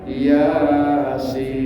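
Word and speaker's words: يس: Ianya kelompok 5 yang cuma 1 alif. Sinnya masuk yang naqasa asalukum, masuk sin. Itu. Berarti ianya 1 alif, sinnya 3 alif. Jadi bacanya Yasin. Kita katakan nggak merhatiin. Udah mimpin baca Yasin. diikutin orang banyak. Berkali-kali. Kadang-kadang lebih panjang ya-nya daripada sin-nya. Yasin kebalik. Ya-nya cukup 1 alif, sin-nya 3 alif. Gitu.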